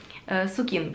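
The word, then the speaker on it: Sukin: же сукин который как-то суке суке на факультете такое название всегда или знаешь как правильно поставить ударение тут как тебе удобно так как выдала сукин правильно называется бренд уж простите но по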